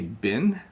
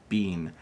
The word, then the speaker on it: been: here I sometimes say bin and I sometimes say beam so I pronounce it two ways when I say beam people laugh at me but in English you will hear a lot of variations like you know I've